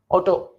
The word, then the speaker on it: Otto: Otto, again double T means double consonant becomes half, Otto.